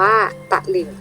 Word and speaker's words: ตลิ่ง: ที่ สอง นะ คะ พยางค์ หลัง เรา จะ อ่าน ออก เสียง เป็น หอ หีบ นำ นั่น เอง นะ คะ คำ ว่า